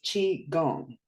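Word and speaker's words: qigong: but when I typ tried to type in like the word that was in my mind pronounced chi gong is an internal process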